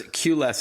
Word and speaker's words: QLess: For our listeners, QLess is spelled the letter Q, L-E-S-S, but a cute play on words, of course, as you're all about reducing the need for a queue or a lineup, as we say here in North America.